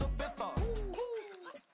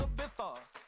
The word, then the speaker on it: Ibiza: I just went to Spain, that's Ibiza. Ibiza, yeah, it's pronounced Ibiza, actually.